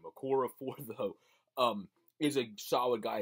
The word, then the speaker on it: Okorafor: Okafor had, Okorafor, I guess is how you say that, Okorafor, Chukwuma Okorafor, he's